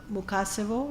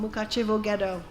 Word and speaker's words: Mukachevo: czechoslovakia worked clandestinely in the mukassevo is that how you say it ghetto oh mukachevo and he worked carrying